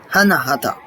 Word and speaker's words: Anahata: Maintenant, on passe au 4e chakra, qui est le chakra du cœur, qu'on prononce Anahata. Je pense que j'ai bien prononcé.